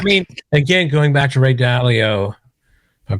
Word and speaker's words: Ray Dalio: just crazy i mean again going back to ray dalio i'm pronouncing that right you are one of the